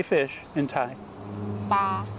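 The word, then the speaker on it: ปลา: Pa. Pa. And that's sort of like a BP sound.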